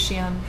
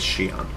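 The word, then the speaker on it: Xi'an: the real world the the writers actually encourage the different pronunciations of Shian however in our Confluence Data Page there is a specific the official the one that they raised themselves go by is Shion I've never heard anyone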